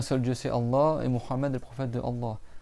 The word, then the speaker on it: Muhammad: Il faut que tu prononces bien le nom Muhammad. C'est pas Mahomet, c'est pas Mohamed, c'est pas Mahmed ou Mamadou ou ce que tu veux. C'est Muhammad.